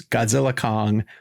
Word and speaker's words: Godzilla x Kong: Although my Warner Brothers rep told me they don't pronounce that. They're just saying it's Godzilla Kong, the New Empire.